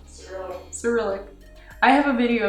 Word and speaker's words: Cyrillic: My husband pronounces it Cyrillic. Right? You say Cyrillic? Cyrillic.